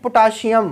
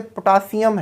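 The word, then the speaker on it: potassium: वी यूज टू से इट पोटाशियम, तो सही प्रोनाउंसिएशन वैसे पोटासियम है, पोटासियम, calcium not calcium, that calcium.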